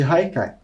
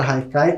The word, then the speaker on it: Haikai: podem ver a palavra Haikai como ela é de origem japonesa se escreve com h mas tem esse som de R e muitas vezes pode